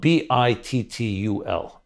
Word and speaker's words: bittul: I'll spell it B-I-T-T-U-L.